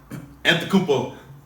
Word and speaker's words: Antetokounmpo: Antetokounmpo. Giannis. The What? G is silent.